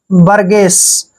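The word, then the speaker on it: burgess: दमक next word देखिए बी आर GE double S बी य का उचा यहां पर हम ब करेंगे आर को र पढ़ते हैं बर ठीक है और जी का उच्चारण ग करेंगे और और यहां पर देखिए ई को हमने ए की मात्रा पढ़ना है और डबल एस का उच्चारण स करते हैं बर्गस बर्गस मींस होता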